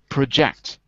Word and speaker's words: project: so to project okay when it's an action we put the stress on the second Sy project if it was a noun it would be project so the difference between noun and verb is noun the stress the stress is on the first syllable project as a verb stress is on the second syllable project okay all right so